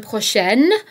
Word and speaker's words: prochain: Prochain and prochaine both mean next, so be careful here because there is a difference in the pronunciation. Prochain, prochaine. Dernier, dernière.